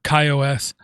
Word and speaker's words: KaiOS: ago i talked about a operating system called kaios which many people have mispronounced many people with agendas have mispronounced it's called kaios um it's a full linux based operating system